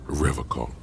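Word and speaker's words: Revachol: He pronounces Revocol with a hard K, unlike other people. I like to pronounce it the hard way, the old way, the Vespertine way.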